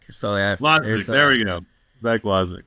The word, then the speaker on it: Wosmek: Zach Wosmek. So yeah, Wosmek, there we go.